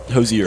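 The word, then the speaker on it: Hozier: Hosier was there too Hosier is that how you say it Hosier yep y i remember we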